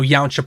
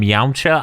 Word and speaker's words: Yamcha: encounter to feel Cullingham Yamcha I've decided to say it incorrectly the other direction I'm gonna say it like the word Kombucha but without a B and with the y at the beginning I'm sorry I'm like